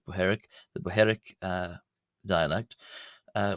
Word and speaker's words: Bohairic: Uh however, luckily for us today, the dialect primarily used by the Coptic Church uh is the Boheric or Boheric as some people, but I pronounce it Bheric.